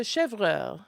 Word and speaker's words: chèvre: accent is on the e. Do that one. So the chèvre, if it's Okay.